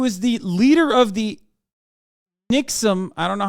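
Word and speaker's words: NXIVM: the leader of the nixum I don't know how to say it correctly uh sex cult uh leader who's currently in prison for sex trafficking Nexium not Nixon Nexium sorry not only has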